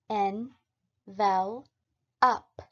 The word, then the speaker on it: envelop: next up is envelop envelop is pronounced as n well up although envelope and envelop